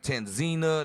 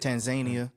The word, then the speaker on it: Tanzania: Tanzina, that how you say it? Tanzania.